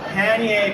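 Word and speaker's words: pannier: So I have this pan I keep pronouncing it wrong. Pier bag. I've been calling it a paneer bag for many years.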